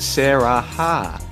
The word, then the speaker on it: Sarah HHA: You missed Shadow Tiger on that line, and we pronounce it Sarah Ha.